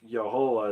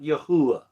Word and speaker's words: Yehovah: Nobody knows exactly how to pronounce it. I think Yehovah is actually the closest. Not Yahuwah. No, there's no U sound in that name, okay?